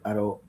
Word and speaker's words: Aracoara: Professor Antonio for Instituto Aracoara. Oh, I mispronounced it. I was in such a groove. Let me get it right, because there you go. Aracoara.